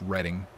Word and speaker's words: Reading: It's like R-E-A-D-I-N-G, which is like reading, but it's Redding.